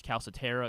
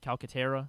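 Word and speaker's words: Calcaterra: the guy or or is caletera is that how you say it calcatera Calera yeah calcatera is he is he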